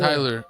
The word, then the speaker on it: Kyler: again Kyler Kyler Kyler Kyler like Skyler but with Kyler I always messed up